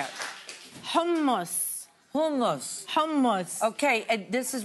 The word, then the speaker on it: Hummus: Hummus.